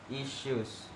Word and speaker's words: issues: Next, the sh sound is pronounced with a regular S. It should sound like issues.